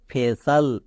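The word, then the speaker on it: facial: এর মত উচ্চারণ করব এফ এর জন্য ফো এ এর জন্য এ তাহলে কি হলো ফো প্লাস এ ফে আর সি আই এল এর জন্য তো সাল হই তাহলে কি দাঁড়ালো ফেসাল বোঝা গেল চলো এই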